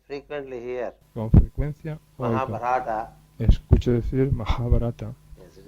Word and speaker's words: Mahabharata: De modo que a la hora de pronunciar hay una tremenda precisión requerida. I frequently hear Con frecuencia oigo, Mahabharata.